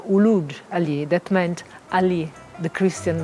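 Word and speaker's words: Uluç Ali: Uluc Ali, Uc Ali, Luc Ali, Oc Ali, Uluc Ali, among the many others. These were all mispronunciation of Uluj Ali, that meant Ali, the Christian renegade.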